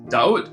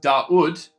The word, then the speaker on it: Dawud: Even though this is pronounced Dawood, if that's referring to my artist name, we're actually just calling it Dawood, which is my last name.